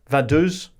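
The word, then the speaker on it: Vaduz: to lickstein in vadu is that how you pronounce it Tom sure vadu Titi Jensen on Blue Sky says will the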